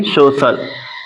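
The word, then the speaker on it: social: करेंगे कब जब सी के बाद क्या हो आई ए आए ठीक है तो आइए एग्जांपल देखते हैं एस ओ सी आई ए एल इसको क्या पढ़ेंगे सोशल तो बड़ सम में इसका जो उच्चारण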